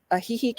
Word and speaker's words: Ajijic: go to is ajijic and you actually you spell that a j i j i c and i'm a small town girl so a heeheek is is a small town as well it